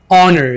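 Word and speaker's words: honor: हमें मदद करनी चाहिए ऑनर यहां पर आज साइलेंट रखें हॉनर इज्जत हमार मजा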